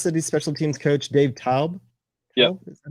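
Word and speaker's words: Toub: Yeah, Kansas City special teams coach Dave Taub.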